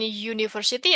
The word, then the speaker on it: university: Tapi kita tuh bacanya U. Apa itu kita baca itu tuh um, university. Bacanya tuh ada konsonannya dulu gitu.